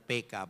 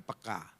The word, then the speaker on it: peka: Hubung yang sangat sensitif atau sangat PK ya, bahasa Indonesia yang benar PK bukan peka, Saudara. Jadi bacanya harus gaya Batak PK gitu.